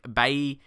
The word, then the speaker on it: Bailly: And also, Eric Bailly, I believe that's how you pronounce his name, not Bailey, because it's not English.